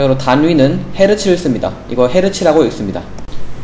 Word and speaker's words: 헤르츠: 이거 헤르츠라고 읽습니다.